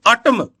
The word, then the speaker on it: autumn: ये जो वर्ड है इसका प्रोनाउंसिएशन आप देखो, अटम, अटम, AUTUMN, अटम।